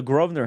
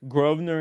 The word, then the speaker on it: Grosvenor: Well, I think I toured the BM because this is right next to the Grosvenor House.